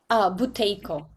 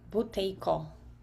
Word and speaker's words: Buteyko: The doctor's name, can you spell it? Buteyko, Buteyko, Buteyko. Okay. Can you say that again? B-U-T what? B-U-T is a Tom, E-Y-K-O, Buteyko.